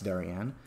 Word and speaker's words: Darien: I mean nobody likes darianne people in other in other exclusively white exclusively Rich suburbs um mock them as sing Darian rhymes with Aryan that's how racist Dorian